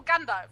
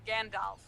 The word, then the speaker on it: Gandalf: I mean, it's also Gandalf, not Gandalf. So, True. Yeah. Also not German Jandalf. pronunciation.